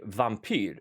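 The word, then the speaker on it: vampyr: and W's so uh our V's are very soft so I would say for for werewolf right V which is spelled with a V not a w in Swedish and I would say vampir vampir actually Vamp which is Vamp so it has the same V sound in Swedish but of of course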